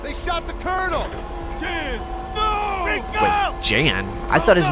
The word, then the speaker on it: Jan: ruin the moment but when did Yan's name start getting pronounced as Jan I'm not crazy either in the first game he is referred to as Yan by multiple characters so I'm not sure